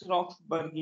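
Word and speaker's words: roxburghii: Pinus रॉक्सबर्गी, इसकी spelling दोबारा लिख देता हूँ, ROXBURGHI, रॉक्सबर्ग।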